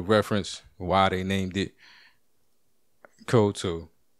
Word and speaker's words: Cocteau: And it's called Cocteau. Like that's the pronunciation. I think the computer's pronunciation is better. Cocteau.